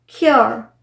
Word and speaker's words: cure: Sometimes UR-E combination जो है वो योर जो एक डिफ्थोंग है इस तरह से प्रोनाउंस किया जाता है, जैसे क्योर, CURE, क्योर, एंड्योर, प्योर, सिक्योर। तो यहाँ पर ये य नहीं है, यो है, यो।